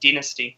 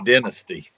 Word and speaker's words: Dynasty: It's exactly the same, but we pronounce it Dynasty, which is the correct one. So, you mispronounce it Dynasty.